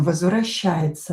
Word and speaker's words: возвращается: Возвращается о not stressed pronounce it as а. Я pronounce as и.